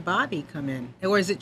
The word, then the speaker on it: Bahby: So it's pronounced just like Bobby.